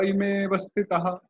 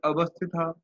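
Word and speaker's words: इमेऽवस्थिताः: Ime vastita means this deleted a is not pronounced. We skip it. Okay. Ime Some vastita. pause after ime vastita, like that. Ta ime vastitah. Ta ime vastitah. Not avastitah. Vastitah.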